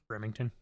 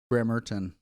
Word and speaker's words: Bremerton: Remington. There's no G. Bremerton.